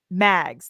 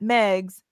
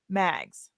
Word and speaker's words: Mags: It is Mags, not Megs, Mags.